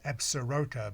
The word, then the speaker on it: Absaroka: It's spelled Absaroka, but it's Absaroka mountain range.